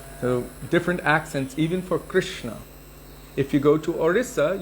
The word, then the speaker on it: Krishna: also from orissa but he says kristna and i've heard other people say krasna so it just depends on where you're from the accents are different krishna himself i say it like that because that's how i heard it from my gurudeva at the time of initiation he said krishna so krishna is the